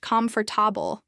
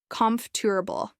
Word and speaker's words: comfortable: to sound for example the word comfortable is often pronounced comfortable by learners but native speakers say it more like com table the more learn hear